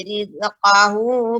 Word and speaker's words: rizqahu: Faqadara alaihi rizqahu fayaqulu rabbi ahanan. Ya, kemudian Ibu pengucapan huruf zai ya jangan sampai rizqah tapi rizqah. Wa amma idza mabtalahu faqadara alaihi rizqahu fayaqulu rabbi ahanan.